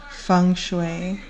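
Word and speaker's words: Feng: You can find things um you can just look up um fune spelled F E N G, pronounced F U N G.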